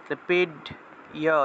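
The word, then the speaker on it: পীড্য: পিড্য, ডয়ের সাথে জফলা আছে, পিড ইয় এইভাবে উচ্চারণ হবে, জফলার পরিবর্তে ইয় উচ্চারণ।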